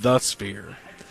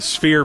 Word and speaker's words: Sphere: I noticed that Buno mispronounced it and said The Sphere. And we get corrected on that, and the Sphere people want to correct you too. Because it's just Sphere from the makers of Restore.